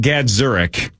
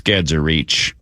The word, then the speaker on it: Gadzuric: name is Grimmer, but Dan Gadzurich way back in the day was a basketball player and it was Dan Gadzurich for years and years and years and years. And then like seven, eight years later, one day he just went to a I don't remember if it was a podium or a locker room interview. He's like, "By the way, it's a it's Gadser Reach."